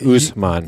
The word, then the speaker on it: Usman: I think it's spelled very phonetically close. Yeah, Like Usman. Yeah, U.S.M.A.N. I Yeah. think, or something like that.